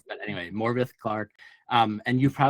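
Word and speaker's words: Morfydd: I was gonna say Morphid, but apparently it's it's a Welsh name. It's supposed it's pronounced Morvith, even though it's spelled like Morph, but anyway, Morvith Clark.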